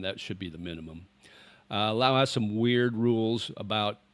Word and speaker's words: Lao: The country's Laos, and then if you talk about the people, it's Lao. It's like when I first came to Thailand, I dated a Lao girl.